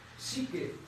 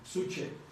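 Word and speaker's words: psyche: Es una U, en lugar de Y es una U, pero ustedes ¿cómo lo leerían? Suche. Pero se pronuncia psique, por eso les dije una Y en lugar de la U.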